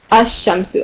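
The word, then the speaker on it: الشمس: Ash-shamsu, obviously, right? So sun letters you don't pronounce this the lam.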